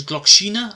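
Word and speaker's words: Gloxinia: It's Glokshina. Apparently that's how you pronounce her name.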